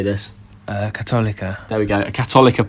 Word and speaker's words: Católica: Católica.